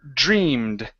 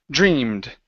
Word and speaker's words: dreamed: of dreamed it's Dre dreamed dreamed dreamed okay almost it's starts off with a J sound like job okay so this is